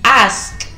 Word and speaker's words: ask: o sentarse, ask, ask, hay que pronunciar muy bien la K al final, ask, preguntar, calculate, calculate, calcular,